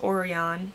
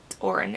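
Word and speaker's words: Orrin: finally caught the thief which is orion or orin oren yeah oren it's it's spelled o-r-r-i-n so that was the thief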